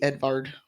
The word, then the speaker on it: Edvard: Not Johan, Edvard, because it's literally spelled with a V. Edvard.